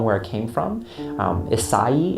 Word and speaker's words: Isai: it came from um isai is how you pronounce that but it's just Isaiah is just kind of what he's called and it sounds like